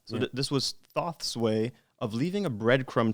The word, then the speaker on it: Thoth: time was that this was thoth so it's pronounced thoth so this was thoth's way of leaving a breadcrumb trail for me